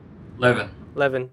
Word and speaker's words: Levin: Levin. All right. Just like Kevin with an L.